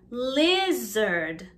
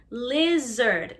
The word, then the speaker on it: lizard: monkey monkey not monkey lizard lizard now this has the z sound so here's a little